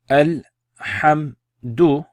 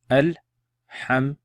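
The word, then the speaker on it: الحمد: So again, exactly the same pronunciation. Al-hamdu. Say it with me.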